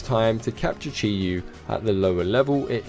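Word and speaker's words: Chi-Yu: I thought why not it's chiu my bad totally mispronounced that butched it in every way Chi U is the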